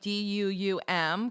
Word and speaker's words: Dum: Dum is pronounced like Duum, correct? Yes.